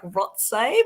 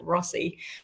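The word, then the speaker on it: Rothesay: I got that wrong because I thought it was like Rotsay, but locals pronounce it Rossi.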